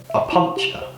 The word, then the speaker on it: Opuntia: complete dolt on camera I googled how to pronounce this it comes up as a puncture a puncher a puncher but definitely have had a pretty